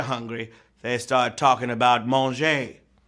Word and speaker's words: manger: It's sure not pronounced the same because when the French are hungry, they start talking about manger, spelled M-A-N-G-E-R, like manger, away in a, no crib for a babe.